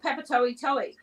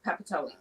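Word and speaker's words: Papatoetoe: they're making up the because it's spelled p a p a t o e t o e so people would go peepa toy toy but well that isn't even the pronunciation properly but it's just commonly called Papi okay always oh sorry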